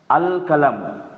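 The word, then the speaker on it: القلم: आप सिर्फ इतना देखो, अलिफ लाम मैंने दिया, यहां लाम का प्रोनाउंसिएशन हो रहा है या नहीं? अल कलम हो रहा है लाम का प्रोनाउंसिएशन?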